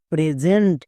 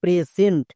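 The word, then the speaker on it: present: পি আরই এসই এনটি প্রেজেন্ট। একে অনেকেই উচ্চারণ করছো প্রেসেন্ট। প্রেসেন্ট কিন্তু না।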